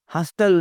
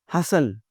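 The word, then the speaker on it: hustle: हस्टल नहीं लफ्ज़ होता, हसल, शोर, अफरा-तफरी।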